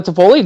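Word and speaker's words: Toffoli: Foley oh God I'm really hoping I'm not pronouncing that wrong Tyler tapoli no that's right yeah from a Calgary yeah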